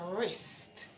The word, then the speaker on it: wrist: Your wrist. Wrist. See? The R is there, so it tells the W not to talk.